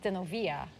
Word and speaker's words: Zenobia: Her name was Zenobia, which is pronounced Zenovia.